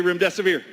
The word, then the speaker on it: remdesivir: For those of you who had a hard time, there's a lot of hosts that can't say remdesivir. I actually pronounce it, your death is near. Remdesivir. If that helps you remember.